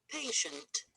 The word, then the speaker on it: patient: Patient. Patient. Patient. How many syllables here? Three? No, not correct. We have only two syllables here. Patient. Patient. And also the stress is on the first syllable.